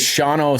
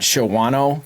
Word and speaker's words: Shawano: Now, I have to ask the first dumb question, which is it is Shauno Ski Sharks, right? It's not Shawano because it's spelled Shawano.